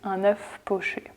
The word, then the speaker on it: un œuf poché: It's un œuf poché.